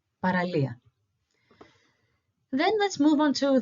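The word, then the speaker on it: παραλία: L E and A we see where the accent is so all together is paralia it's the beach in Greek paralia then let's move on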